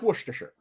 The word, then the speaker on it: Worcestershire: salt salty it's salty it's Umami it's like Worcestershire yeah oh an American that can pronounce it properly well it's sanguine so